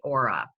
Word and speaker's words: Oura: So right here on my hand, I have a ring device, and it's spelled O-U-R-A, Aura.